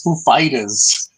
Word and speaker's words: Foo Fighters: wanted to ask you, where do you put the stress? Like what syllable do you put the stress on the name of the band? And so Dave Grohl goes, it's Foo Fighters.